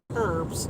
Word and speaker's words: herbs: stuff like that right there'd be no h sound here here's the the british pronounce pronunciation as herbs right well american it